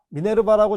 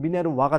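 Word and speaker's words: Minerva: 자, 미네르바라고 적었지만은 고전식 발음 미네르와가 되겠죠. 근데 이제 좀 많이 쓰는 말로 그냥 미네르바로 적었습니다.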